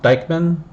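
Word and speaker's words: Dieckmann: I think it's pronounced Dyckman.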